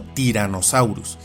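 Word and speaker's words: Tyrannosaurus: Así este icónico género se pronuncia como tiranosaurus y se castellaniza como tiranosaurio. Note también que la doble n fue omitida y solamente se usa una porque así es como suena.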